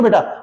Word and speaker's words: बीटा: ALPHA, alpha, ठीक है बेटा। ऐसा जो निशान लिखा है इसको हम बीटा, BETA, बेटा नहीं बेटा, बीटा बोला जाता है।